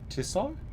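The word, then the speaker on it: Tissot: It's pronounced tisso.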